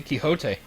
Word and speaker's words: Quixote: Oh, it's Crazy Quixote.